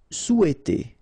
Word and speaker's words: souhaiter: Souhaiter. So remember, in French we don't pronounce this H, okay? It doesn't phonetically exist here. So you've got sou, after that you've got E, and then T. Souhaiter, souhaiter.